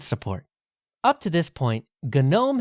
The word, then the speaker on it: GNOME: up to this point gnome had been a GNU project hence the intentional pronunciation of the g at the beginning but late in the